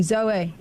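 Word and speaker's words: Zoë: Yeah, so you pronounce the E, Zoe.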